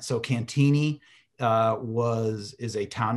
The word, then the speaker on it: Cantigny: uh so it's pronounced cantini so the g is silent so cantini uh was is a